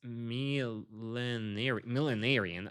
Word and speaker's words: millenarian: So I need to work on that pronunciation. So it's millenarian.